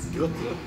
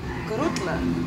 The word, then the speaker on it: Grutle: How do I pronounce it? Grutle. Grutle.